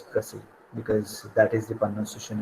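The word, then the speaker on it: précis: original word of english we have taken this from french and that is how the uh the pronunciation it comes that's why we call it as pressly because that is the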